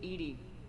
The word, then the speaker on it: EDI: and nineties ish references why are you named ed ed is the phonetic pronunciation of Ed I that is an acronym